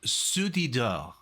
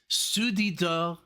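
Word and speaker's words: Ceux du dehors: Okay, so it's pronounced Soudidor. Soudidor is the title of the album.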